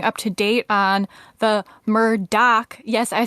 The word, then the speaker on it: Murdaugh: But apparently, Alex Murdaugh says his name as Alex Murdaugh. So we're going to run with that from now on.